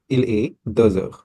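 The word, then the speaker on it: heures: We will say the the we already know we will write h e u r e s. Please do not forget this. Okay, this s is important here. So the fine the pronunciation will be aer.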